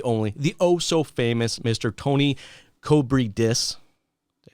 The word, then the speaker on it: Koubridis: Tony Koubridis. Did I say it right? Oh, it's pretty close. Koubridis, yeah.